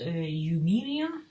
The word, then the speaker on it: Eumeria: I think this is Eumeria, is how it's pronounced. I initially thought that was a V when I first looked at it, but I think it's actually a U, so Eumeria.